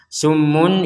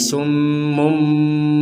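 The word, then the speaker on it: صُمٌّ: Nah, perhatikan di sini ada mim kecil, di atasnya mim menandakan bahwa summun ini dibaca menjadi summum, seperti itu.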